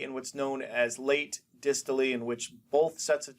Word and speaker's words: diastole: We have what's called dystole. Okay, sometimes people pronounced it diastole, but dystole is when